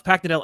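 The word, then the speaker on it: Paknadel: Yeah, no, it's phonetic. It's fine. It's just imagine you're sort of hammering a nail into wood with your forehead. It's very, very phonetic.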